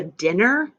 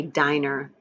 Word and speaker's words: diner: market our next story it looks like it says the dinner but this is actually a long I diner a diner if you're not sure